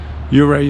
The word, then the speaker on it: Ouray: Ouray is how you say it right.